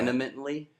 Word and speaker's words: vehemently: Vehemently is the word, I don't believe. pronounce the H. You don't. It's a silent H that comes Yeah. out as an N.